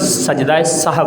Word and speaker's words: سجدہ سہو: ٹھیک کر لینا چاہیے۔ ہمارے کئی احباب جب سوال کرتے ہیں کہ وہ سجدہ سہو کہتے ہیں، جبکہ یہ لفظ سجدہ سہو ہے۔ سین پر زبر ہے، ہا پر جزم ہے،